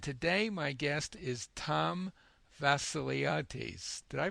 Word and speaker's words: Tom Vasiliades: Hello, this is at Body Learning, and today my guest is Tom Vassiliades. Did I pronounce that right?